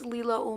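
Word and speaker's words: Leila: Hi, my name is Leela.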